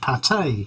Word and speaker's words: pâté: The Frenchicization of words, or actually just they are just French, and we pronounce them as French. Pâté, for instance.